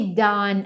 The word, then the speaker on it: done: Pronúncia desse done aqui, ó. Imagina que você está falando assim, ó, done, done. Então é meio que um azinho fechado.